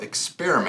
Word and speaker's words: Experimac: Today we have Gary Wolf, owner of Experimac.